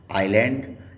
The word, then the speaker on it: island: S दो words के साथ में साइलेंट रहता है जब ये L के पहले आता है, ISLAND, आइलैंड, एंड ISLET आइलैंड, इसी तरह से ISLE आइल।